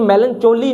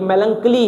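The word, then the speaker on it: melancholy: ये मेलनचोली नहीं है, ये मेलंकली है। प्रोनाउंसिएशन पे ध्यान नहीं देना होता, इसकी प्रोनाउंसिएशन होती है मेलंकली, ठीक है।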